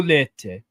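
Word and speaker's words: Leite: I just looked up on a pronunciation thing. It's like Diogo Lete.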